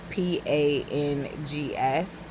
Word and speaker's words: pangs: poem about it but it's pronounc I mean it's spelled P A N G S and it kind of sounds the same hunger pangs but it's with a G heavy be on the panges.